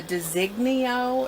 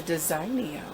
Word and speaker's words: Designio: is DZ 1 are 1500 F it's a designee au is how they pronounce it I call it a design neo it's a high-speed straight stitch sewing machine and